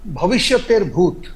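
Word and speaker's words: ভবিষ্যতের ভূত: अच्छा अशोक जी, आपने एक और सिनेमा का उल्लेख किया, भविष्य तेर भूत। हाँ, मैं इसका प्रोनाउंसिएशन नहीं, क्योंकि अंग्रेजी में मैंने पढ़ा, मैं इसको बंगला में क्या है, भविष्य तर भूत। अच्छा, ओके जी, माने भविष्य का भूत।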